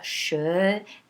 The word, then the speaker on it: chenille: Si je fais bien les syllabes, je vais dire chenille. Et on va entendre le E à la fin.